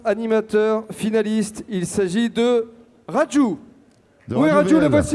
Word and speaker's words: Raju: Raju. Raju. C'est un U, mais ça se prononce où en fait?